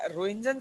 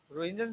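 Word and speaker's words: Röntgen: रोहिंजन साहब ने in race को नाम दिया अननोन रेस का। बाद में इनका नाम कुछ टाइम रोहिंजन रेस भी रहा। TGEN होती है, स्पेलिंग देख लेना इसकी, रोहिंजन रेस भी रहा इसका कुछ नाम।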